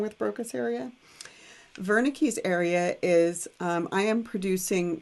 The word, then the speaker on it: Wernicke: we call wernicke's area starts with a w but it's pronounced with a v wernicke's area this is a